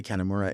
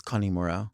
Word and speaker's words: Kanemura: I'm pronouncing it wrong when I say Kamura. It's Kane Mura.